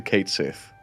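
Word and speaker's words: Cait Sith: Like apparently it was catchy up until a certain point where they changed it to Kate Sith.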